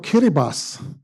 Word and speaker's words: Kiribati: And if you add the Republic of Kiribas, which is spelled Kiribati and Naru below that, those that island nation alone is almost the size of the continental United States.